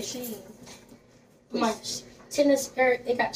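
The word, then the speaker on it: Shein: you pronounce it, and she said it's actually like it's spelled Sheen. And people been calling me Sheen, that I knew it wasn't Sheen, but well, hey, it ain't my place to correct nobody.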